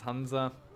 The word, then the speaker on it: Hansa: It's actually pronounced Hansa. But if you speak English a lot, then you tend to try and pronounce it the way the English would.